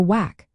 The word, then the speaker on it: WACC: The weighted average cost of capital or whack pronounced W a CC is a crucial financial